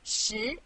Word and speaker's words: 十: This is its syllable 十. Repeat after me 十. 十.